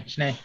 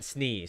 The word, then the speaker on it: Snay: Yeah, Snay. Yeah. Yeah, okay. Last time I went Snee, so it's Snay.